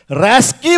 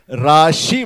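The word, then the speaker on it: RASCI: Skill council of India, जिसको बेवकूफ लोग रैस्की बुलाते हैं और जानकार लोग राशि बुलाते हैं। इसका सही प्रोनाउंसिएशन है राशि।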